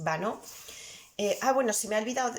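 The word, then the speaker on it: Banneux: pueblecito también muy pequeño, que se llama Banó, y fonéticamente en español se escribe Baneux, terminado en X y con dos Ns, lo digo para los que lo queráis buscar, ¿vale? Pero bueno, la pronunciación francesa más o menos es Vanneau.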